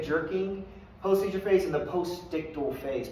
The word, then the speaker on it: postictal: Post-seizure phase and the postictal phase. Postictal phase is how that's pronounced.